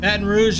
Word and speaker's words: Baton Rouge: Like that? That's kind of how the French pronounce it, since it's a French name.